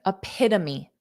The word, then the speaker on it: epitome: want to say it so there are four sounds a PID me and then you say it together epitome epitome epitome epitome epitome